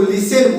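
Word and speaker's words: listen: okay बहुत बच्चा है इसको लिसन बोलना है जो की अब्सोल्युटली रंग है इसको लिसन बोलेंगे क्या बोलेंगे लिसन बोलेंगे क्योंकि यहां पे टी क्या है साइलेंट शब्द ओके इसका हिंदी भी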